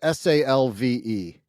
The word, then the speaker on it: salve: What? Like salmon? The L is silent?